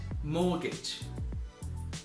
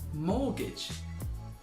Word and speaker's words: mortgage: we've got the word mortgage mortgage and as before if you have a look at the spelling the T in the word mortgage is silent we do not pronounce that letter so mortgage so what